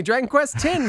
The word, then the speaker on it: Dragon Quest X: x version 5.5 and version 6 coming this year pronounced 10. pardon me dragon quest 10 versus sorry it's not